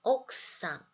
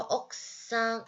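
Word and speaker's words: 奥さん: 발음이 옥상 발음해 주시면 돼요. 우리 학세랑 똑같은 원리입니다. 쿠 뒤에 사행이 오면은 쿠를 굳이 발음하지 않아요 했었죠. 그래서 억상 발음해 주시면 되고요.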